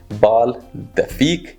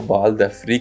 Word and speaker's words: Bal d'Afrique: Google पे अगर आप लिखेंगे, प्रोनाउंसिएशन चेक करने की कोशिश करेंगे तो इन फ्रेंच इट्स बाल दफी, लेकिन इंग्लिश में जैसे हम लोग रीड करते हैं तो हम उसको बाल द फ्रीक ही पढ़ेंगे अपनी सहूलत के लिए।